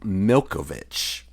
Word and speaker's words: Malkovich: one though uh John malkovich's name is actually pronounced milovic that's right see I knew that was based